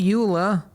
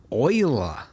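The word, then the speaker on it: Euler: shift a utilities rotation rotate not Ula Oiler that yes I know they went with the weird pronunciation I think it was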